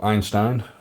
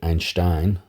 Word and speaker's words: Einstein: energy Mass relation so Einstein or as you correctly pronounce it Einstein obviously it's German did this work in